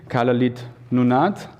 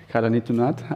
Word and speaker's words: Kalaallit Nunaat: I hope I do pronounce it correctly, Kalaallit Nunaat. Kalaallit Nunaat.